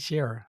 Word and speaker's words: Sherra: Now, apparently it looks like even though uh Sharer, see I said it right, Sharer, right?